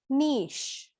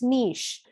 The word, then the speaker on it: niche: nice word this is niche so the ch is pronounced as a sha sound it's niche which means a comfortable